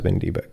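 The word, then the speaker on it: WinDbg: This is the actual word pronounced as wind debug.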